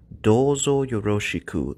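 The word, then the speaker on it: どうぞよろしく: to meet you again this phrase is pretty long so let's break it up into smaller sounds listen and repeat after me do yoroshiku if you feel like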